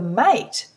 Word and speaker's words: mate: sound for a however mate sounds different M8 you can't hear the e at the end because it's a silent E and that silent E makes the a say the long vowel sound for a m a